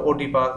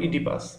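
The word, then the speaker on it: Oedipus: উচ্চারণটা এরকম হতে পারে ওডিপাস বা ওডিপাস এরকম অনেকে বিভিন্ন রকম বলতে পারে সঠিক উচ্চারণে ও এর উচ্চারণটা হবে না হবে ইডিপাস ইডিপাস রেক্স এটা একটা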